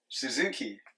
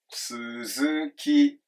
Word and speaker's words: Suzuki: with these you know Suzuki Yamaha sounds American I like it but in Japanese they're pronounces here but right it just goes up and stays flat low high high LHH okay Suzuki I mean it you